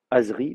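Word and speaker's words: עֶזְרִי: c'est un ségolé, euh si on vous dit bah alors comment on va dire mon secours, vous saurez pas qu'il faut dire Azri.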